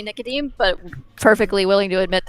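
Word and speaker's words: Nicodème: everyone how everyone pronounces Nicodemus' name? I usually say Nicodeme, but perfectly willing to admit that I'm anglicizing it badly. The eem would be a much softer sound. So more like Nicodem.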